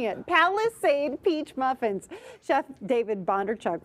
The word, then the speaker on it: Palisade: right now so why not cook up some paliside I keep mispronouncing it Palisade Peach muffins Chef David bchuk from scratch catering